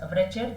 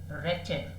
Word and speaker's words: wretched: Don't pronounce it as wretched. The W is silent. The pronunciation goes wretched and heartbroken.